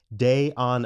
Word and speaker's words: Dayana: sentence of this bio my name is diana parentheses day on uh like spending a day on a beach and i'm a composer